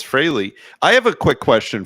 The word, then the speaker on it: Frehley: on this show kids it's not fre yeah it's Frey I know I don't even know where that came from I think freely just sounds more common but yeah it's Frey I have a quick